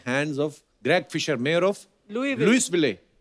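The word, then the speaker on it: Louisville: आगे तभी बढ़ेंगे लुईस जब लिखा है तो स क्यों नहीं बोल रहे हैं जैसे नाइफ में क साइलेंट होता के साइलेंट होता है। वो तो के पहले आता है। यह तो बीच में घुसा हुआ है।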